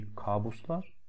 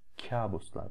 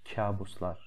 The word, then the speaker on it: kabuslar: Не kabuslar, а kabuslar. Здесь смягчение идет. А это читается kabuslar görüyorum.